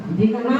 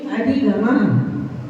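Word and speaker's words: अधिगमः: लोग इस सूत्र का उच्चारण करते हैं, प्रमाण नयई रतिगमा, दिगमा बोलते हैं, दिगमा नहीं बोला जाता है, ये प्रमाण नयई अधिगमा।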